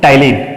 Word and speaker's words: ptyalin: Another name is ptyalin. T is silent, that's why it is called ptyalin. So ptyalin and salivary amylase is there in the saliva.